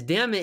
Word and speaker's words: Dummett: You say his name was Dammit? It's Dammit indeed.